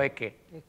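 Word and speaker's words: Ecce: Yo digo Eque, nunca he dicho Eche Homo.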